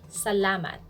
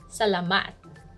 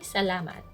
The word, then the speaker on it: salamat: thank you we say salamat stress on the second syllable salamat don't say salamat that's the wrong stress